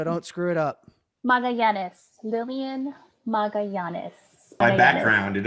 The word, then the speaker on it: Magallanes: All right, Lilian, give me a pronunciation again so I don't screw it up. Magallanes.